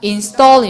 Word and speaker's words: installing: 소리할 때 이게 액센트가 여기 있는 데다가 L 발음이 잘 안 들리나 봐요. installing 시작. installing 이렇게 돼갖고 installing a